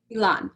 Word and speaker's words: Elan: you how do you say your name elon elon okay um hi elon thank you so much